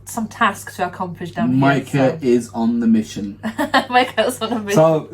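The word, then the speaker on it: Mike'A: i love it um the right pronunciation is micah however i spell micah mike apostrophe a to put a little twist on it so you can pronounce it mike mike mike comma they got you yeah okay and the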